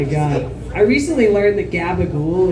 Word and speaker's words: gabagool: I recently learned that gabagool is spelled not at all how it's pronounced. It's like capicola or some bullshit.